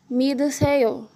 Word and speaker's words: 믿으세요: Quando a letra que vier depois do tigut for uma vogal, o som dele será de D. Se houver uma vogal depois do tiut, o som permanecerá o mesmo. 믿으세요.